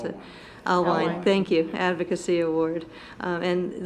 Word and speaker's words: Alwine: I don't know how to pronounce it. Alwine, thank you, Advocacy Award.